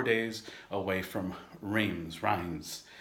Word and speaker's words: Reims: Quentin, and I'm about 4 days away from Reims, as they pronounce it in France.